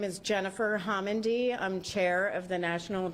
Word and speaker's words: Homendy: The last name is spelled Homendy. Chair? Good evening. Again, my name is Jennifer Homendy.